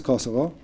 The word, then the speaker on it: Kosovo: i'll just mention it there are two ways to say the word kosovo one is kosovo which ends with an o and this is what